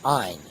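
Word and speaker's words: -yne: So they always will end with yne, which is pronounced ine.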